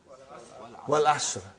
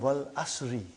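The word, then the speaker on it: وَالْعَصْرِ: What is the first ayah? Wal Asr. Have you ever noted down what is written there? It's called Wal Asri.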